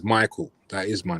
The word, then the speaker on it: Micall: But my dad is Ghanaian, innit? So when he would call me, he would go. Hey. My name is Michael.